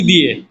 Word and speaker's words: the: তার মানে যদি শুরু হয় কি দিয়ে? ভাওয়েল দিয়ে, আর উচ্চারণটা যদি ভাওয়েলের মতো আসে, স্বর স্বরায় রস্বই দীর্ঘই এই স্বরবর্ণের মতো উচ্চারণ যদি আসে, তাহলে হবে দি।